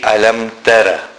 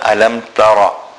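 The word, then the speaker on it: ألم تر: If we take the first verse, Alam Tara, a common mistake is to say Alam Tara. It is not Alam Tara, but rather Alam Tara. So the Ra will be read full mouth. But at the same time, we should not pull the Ra unduly. Sometimes a person tries to read the Ra with a full mouth, but then he starts adding an alif after the Ra.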